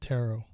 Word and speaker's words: tarot: thank you freedom dove terror is pronounced tarot tarot reading i think i've heard